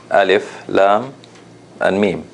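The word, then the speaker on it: الم: word alif La mean but the way you pronounce it you pronounce it like this alif Lam and me right and of course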